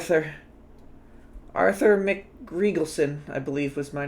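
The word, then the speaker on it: McRegalson: n wait wait wait wait I'm sorry Arthur Mick Regal Sun Mick Regal Sun okay Arthur mcriegelson such a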